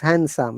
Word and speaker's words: handsome: If you remember, in handsome, we don't pronounce it, okay? It is not handsome, Yes. it is handsome.